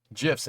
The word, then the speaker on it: GIF: Actually, the guy who invented the format says it's pronounced with a soft G.